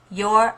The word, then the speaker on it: you're: So subject you and are contracted together and it becomes your. Just like the possessive your, that's spelled Y-O-U-R, your.